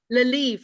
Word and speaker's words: Le Lievre: Well, of course, you beautiful ladies are from Cicadia, and we have Rachel Stevens and Leverve. Leverve? How do you say Very it? fancy. Lelive, like Livre.